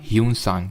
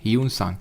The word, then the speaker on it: ह्यूनसांग: इनके टाइम पे एक ट्रैवलर आया था और उसका नाम था ह्यूनसांग। ये माना जाता है कि ये सेकेंड चाइनीज़ ट्रैवलर था इंडिया में। स्पेलिंग आई थिंक इसकी HIUEN होती है ना, ह्यूनसांग।